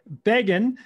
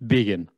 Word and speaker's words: Begin: sales and scale show today we have beggan is that right beggan that was the corrupted name it was it's really how do you pronounce it again it's vegan vegan son of a gun so we have